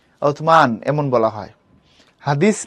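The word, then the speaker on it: عثمان: হবে আরবি উচ্চারণটা এরকম আরবি উচ্চারণ উসমান না আরবি উচ্চারণ হচ্ছে উতসমান এরকম আমরা রমজান বলি এটা আরবি উচ্চারণ রমজান না রামাদান ওকে এরাবিক যে প্রোনাউন্সিয়েশন হচ্ছে রামাদান উতমান এমন বলা হয় হাদিস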